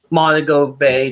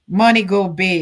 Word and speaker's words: Montego Bay: Oh, so the eye is actually a lot closer to Monaco Bay than previously fought. Why doesn't he pronounce these things properly? It's actually in between Mount Kerry and Springmound. Montgo Bay.